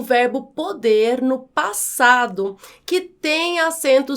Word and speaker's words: pode: Note que a forma verbal pode no presente tem o som mais aberto. Pôde, no passado, que é o caso dessa frase, tem o som mais fechado, recebe, portanto, o acento